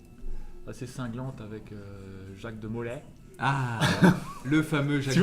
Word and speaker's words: Molay: Là, c'est Molay, c'est Molay. C'est pas Ah, c'est Molay. Molay. Et en même temps, tu prononces mal.